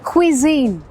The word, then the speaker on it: cuisine: कितनी complicated spelling है ना, और जो प्रोनाउंसिएशन है वो भी थोड़ी सी कॉम्प्लिकेटेड है। इट्स क्विजीन, क्विजीन्स, बहुत तरह के क्विजीन्स हैं हमारे रेस्टोरेंट में।